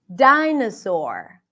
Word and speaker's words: dinosaur: Dinosaur. Dina, na, na. Can you hear it? Spelled with O, pronounced as a.